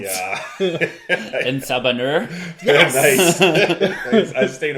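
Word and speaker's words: En Sabah Nur: And having this name that I really do not want to pronounce. Yeah. En Sabanur.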